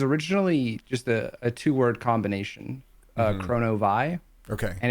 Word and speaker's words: Kronovi: And so it was supposed to be pronounced like that, Chrono-Vie.